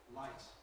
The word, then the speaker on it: light: Light.